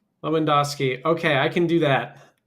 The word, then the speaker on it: Lewandowski: How do we say their name? So on top you have Radwaf Mikharski and on B on the bottom you have Martin Leandowski. Okay. Leandowski. I think you should be able to pronounce the famous Polish uh soccer player. Yeah, Robert Leandowski. So he won celebrity and is the same name.